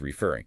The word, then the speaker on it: referring: Like refer becomes referring. Hear how the second part, fur, is stronger.